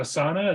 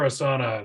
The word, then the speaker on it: Asana: there was an ad for is it a Asana is that how you pronounce it yeah I use the I've used